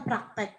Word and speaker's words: praktik: Tapi kalau praktek itu nulisnya adalah praktik. Tapi bacanya praktek.